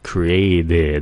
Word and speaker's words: created: Vì người Mỹ thường phát âm âm này như âm 'd' khi nó nằm giữa hai nguyên âm. "Created" phát âm là âm 'd'.